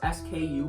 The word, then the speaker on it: SKU: next is sku and you may never have heard it pronounced sku before but what it